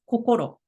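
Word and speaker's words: こころ: is a Kani character meaning heart or mind in Japanese it's a it's read coko Japanese brush calligraphy wasn't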